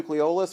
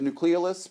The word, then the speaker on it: nucleolus: each organelle does and the nucleolus or the nucleolus pronounced both ways was responsible for making